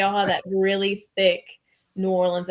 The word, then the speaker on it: New Orleans: pissed off if if anybody pronounces New Orleans in like three syllables like New Orleans like that's you'll get slapped like it's New Orleans it's really n-a-w-l-i-n-s New Orleans New Orleans so I